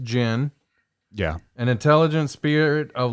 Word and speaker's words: djinn: is uh a noun it's pronounced gin yeah an intelligent Spirit